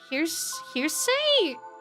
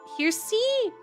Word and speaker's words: heresy: Um, hearsay. Heresy.